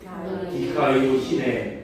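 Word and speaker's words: δικαιοσύνη: 디카이오 시네. 이게 D-E-K-A-I-O, 이게 S예요. 동그라미처럼 생겼는데 수, 그 다음에 이게 우 발음 나는 거예요.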